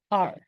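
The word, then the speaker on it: 二: number two so and we say it r r r yes the last one R if you pay attention clearly and listen r r so you're emphasizing so it's last tone R and the gesture for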